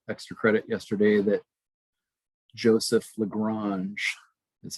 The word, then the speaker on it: Lagrange: me a cool extra credit yesterday that joseph lagrange that's how you pronounce his last name looks like lagrange but joseph louis lagrange in 1773 invented both cross and dot product